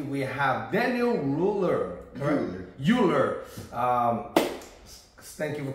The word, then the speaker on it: Euler: next to me we have Daniel ruler corre uler um thank you for correct my pronunciation on your name and uh let's introduce